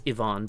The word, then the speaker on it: Iwan: so this is essentially it's Ivon but it's spelled iwan well it's okay Kung